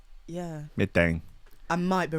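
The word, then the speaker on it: Medellín: I think the L is silent. Medellin. Yeah. Medellin.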